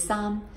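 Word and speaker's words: 衫: some just like yay the same pronunciation is the letter the letter the number three is sam so a shirt is sam so you're not saying this three you're saying this shirt okay leaking so if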